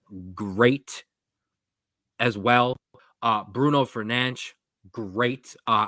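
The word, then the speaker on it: Fernandes: as well uh Bruno fernan great uh I'm going to do my best to pronounce his the actual correct way uh not the way 99% of us mispronounce it but Bruno fanch was great uh and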